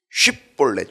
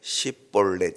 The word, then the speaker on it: 쉽볼렛: 사람들을 구분서 죽였다는 거예요 쉽볼렛 쉽볼렛이라고 하는데이 쉽이라는이 이거를 아마 발음을 잘 못해 십볼렛 이렇게 밖에 발음을 잘 못 하는 거 같아요 일본 사람들이 발음이 좀